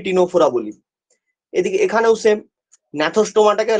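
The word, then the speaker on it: Gnathostomata: এদিকে এখানেও সেম, ন্যাথোস্টোমাটাকে লেখা হয় জি ন্যাথোস্টোমাটা, কিন্তু অ্যাকচুয়ালি প্রোনাউন্সিয়েশনটা হয় ন্যাথোস্টোমাটা।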